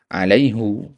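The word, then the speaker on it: عليهُ: fihi bihi ala alaihi seharusnya alaihi tapi kenapa di ayat ini malah dibaca alaihu ya orang kalau tidak belajar ini mungkin mungkin akan mengatakan Al-Qur'an salah harakat di sini padahal tidak.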